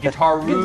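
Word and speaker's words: Guitaroo: How do you pronounce that again? Guitar-roo.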